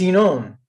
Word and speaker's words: Inon: Natalie, is it Inon? Am I saying that right? Inon, yeah, Inon and Natalie. It's a tricky Hebrew. It's Inon.